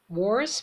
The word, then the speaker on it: worse: Worse میشه بدتر. یادتون نره ابتداش با W شروع میشه. لب رو جمع میکنید انگار میخواید بگید او. Worse. نمیگید worse. مثل وی فارسی تلفظش نکنید.